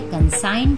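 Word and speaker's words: consign: फिर है कंसाइन, कंसाइन में भी जी क्या है, साइलेंट है क्योंकि एन के पहले आया है।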